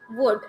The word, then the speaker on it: wood: Wood. This is not wood. It will not start with the oo sound. It will start with wa. Wood.